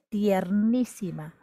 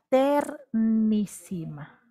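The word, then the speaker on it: ternísima: ma está bien ojo no se dice tiernísima o quizá la rae él acepta de modo popular coloquial tiernísima pero lo correcto sería ter mishima recuerda que cuando se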